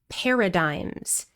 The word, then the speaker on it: paradigm: The G here is completely silent and the final vowel sound is I. Paradigm.